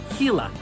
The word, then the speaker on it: Gila: One of only 2 venomous lizards in the world, the name of this species is pronounced Gila.